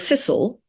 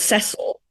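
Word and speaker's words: Cecil: quite fun like William the sisil are called sisle not cile um and they're still called sisle um and they had a house in those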